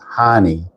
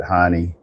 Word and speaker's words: Heine: My wife's maiden name is Heine. And in Germany, a lot of times they call it, I think they pronounce it Hein, but it's actually in the United States, they pronounce it Heine.